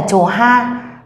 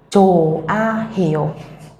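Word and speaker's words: 좋아요: Cho nên chúng ta sẽ không đọc là chốt hay là chồ ha, mà các bạn sẽ đọc là chồ a hiểu.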